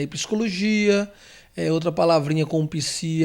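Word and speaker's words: Ψ: Se escreve assim, ó, Psi. E ele é aquela letrinha que já está no português também, de psicologia. Ele é transliterado como se fosse um PS, né?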